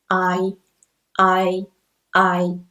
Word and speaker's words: ai: the first one ai it just pronounces like the letter i in pie and also when we